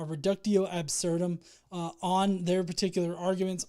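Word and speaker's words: reductio ad absurdum: uh do an um a ruco ad absurdum sorry I pronounced that wrong a reductio absurdum uh on their particular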